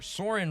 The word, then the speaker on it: Soren: Soren rhymes with Orin.